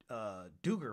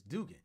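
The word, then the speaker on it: Duggan: Max Dugan, because I always want to say Duger for some reason, or Duggar. It's Dugan.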